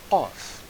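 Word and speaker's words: قاف: Qaf is pronounced as a strong kaf. Imagine the point of your soft palate while your tongue touches your upper throat. K. K, as in the letter K.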